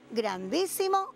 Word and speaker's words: grandísimo: Ah, bueno, seguro que se quedaron sin casita la palabra grandísimo y la palabra árboles. Claro, ¿y por qué se quedaron sin casitas? Bueno, porque estas palabras tienen la fuerza de pronunciación en la antepenúltima sílaba y son palabras esdrújulas.